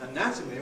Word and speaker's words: anatomy: on the other hand when we have the noun anatomy where the stress is on the second syllable of the stem we get a strong vowel in that syllable a and weak vowels in the other two so we have this